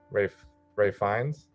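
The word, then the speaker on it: Ralph Fiennes: I mean, the performances are great across the board, specifically Ray Fiennes. Yep. I think is how he pronounces his name.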